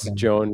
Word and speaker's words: Joan: thank you joan yes pronounce joan like phone never forget that